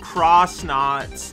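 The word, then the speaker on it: X-Naut: moon base from xnot which apparently is meant to be pronounced cross knot that's never going to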